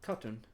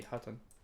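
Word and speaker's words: Khatun: Let's go and greet Temelun Khotun. Yes. Or be Hatun. The K is silent. I've noticed here at the end.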